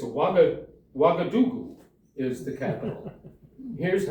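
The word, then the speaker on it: Ouagadougou: And here's how you pronounce it. Do you know Do you know the Hallelujah chorus for Handle the Messiah? Hallelujah. Hallelujah. Hallelujah. Hallelujah. Hallelu. Say it. Wagadoo.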